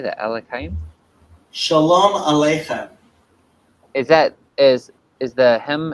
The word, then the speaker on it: Shalom Aleichem: I'll ask Shalom Alachayim? How do you say that? Alachayim? Shalom Aleichem.